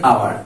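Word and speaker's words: hour: আই am waiting for এন আওয়ার, এ আওয়ার বলি না, কারণ হচ্ছে আওয়ার এখানে এইচ এর উচ্চারণ অনুচ্চারিত রয়ে গেছে, গোপন রয়ে গেছে, তাই এখানে আমরা এন আওয়ার বসাবো, এন অনেস্ট ম্যান বসাবো।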